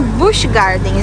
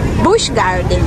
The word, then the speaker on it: Busch Gardens: Os alto-falantes, eles pronunciam Busch Gardens. Eu tô falando Busch Gardens o dia inteiro. Então, olha, o certinho, vamos aprender juntos. O certinho é Busch Gardens.